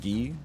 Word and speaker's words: Guy: I was like okay it's got to be guy Gabrielle K there were no other options if there were other options I would have gone for them okay it's pronounced ghee okay well then you